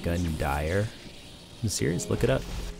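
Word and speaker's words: Gundyr: did you know that gundear's name is actually pronounced gun dyer i'm serious look it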